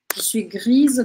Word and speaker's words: grise: aí Gris de fatiga grise de fatigue a grise de fatig então se for feminino eu vou pronunciar esse S se for um homem